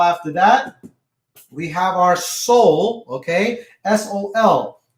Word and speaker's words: sol: Now after that, we have our soul. Okay. S-O-L. The way you pronounce it is soul.